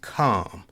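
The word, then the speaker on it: חָם: And it also, in Hebrew, his name is pronounced as Kam.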